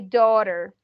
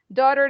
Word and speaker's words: daughter: see in the pronunciation we don't pronounce the gh the gh is silent the sre are silent